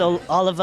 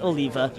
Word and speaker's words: Oliva: horribly last night okay everybody says oliver or olivia but it's oliva it's everyone your name